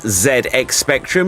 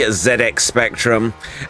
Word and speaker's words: ZX Spectrum: ZX spectrum and yes I would pronounce it ZX Spectrum it was a British thing after all it's not the ZX Spectrum it is the zedx Spectrum and it was a